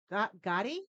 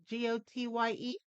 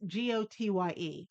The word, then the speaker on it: Gotye: And the song is going to be somebody that I used to know by a name I can't not pronounce. Gotti, Gotye, then it's FT, and it's Kimbra, Kimbra.